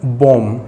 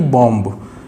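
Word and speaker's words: bomb: जैसे कि बी ओ एम बी, हम जब इसको बोलते हैं तो बॉम न कि बॉम्ब।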